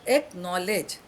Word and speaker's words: acknowledge: Now K is silent here. You don't say K now. You say no. And last is L-E-D-G-E. Again, D is silent. Ledge. L-E-G-E pronounced, but the spelling has L-E-D-G-E.